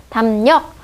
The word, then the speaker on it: 담력: 비음, 미음인 비음과 리을이 만나서 얘를 어떻게 바뀌냐면 얘가 니은으로 바뀌어요. 리을의 비음화. 리을이 비음이 되는 리을의 비음화죠. 담력.